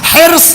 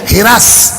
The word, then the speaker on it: حرص: ایک لفظ بولا جاتا ہے اردو میں جو لکھنؤ کا تلفظ الگ ہے، ہم لوگوں کے دیہاتوں کا تلفظ الگ ہے، لغت میں الگ ہے. حرص، حیر صاد. آپ کی سسرال لکھنؤ کی آپ کو پتا ہوگا. حرص یہ ہے اصل تلفظ. لکھنؤ چلے جائیے ہرس. ہم لوگوں کے دیہاتوں میں چلے جائیے اسی زبر کو زیر لگ جاتا ہے.